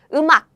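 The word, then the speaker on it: 음악: wow everyone is correct the answer is or in more natural smooth pronunciation is umak umak very good oh a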